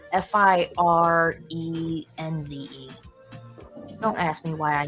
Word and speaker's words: Firenze: Because to me, when I read that, I read Ferenz, but that's not how Ferenz is spelled.